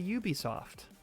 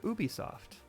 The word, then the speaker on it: Ubisoft: If you're talking with a native English speaker, you say Ubisoft. When speaking with a native French speaker, Ubisoft.